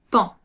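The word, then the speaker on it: paon: Il ne se prononce pas on, mais bien pan. Pan.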